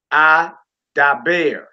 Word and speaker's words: Adaber: Second row, accent on the last syllable. You got Adaber.